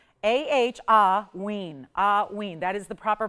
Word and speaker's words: hauyne: Again, it's pronounced like, if you're spelling it out phonetically, it's going, you think of it like A-H-W-E-E-N. A-H-hauyne, hauyne.